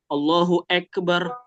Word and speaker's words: Allahu Akbar: A iu jangan sampai ee coba kita sering dengar ada yang dia imam atau azan. Allahu akbarah hu ek bacanya e. Allahu akbar harusnya Allahu Akbar.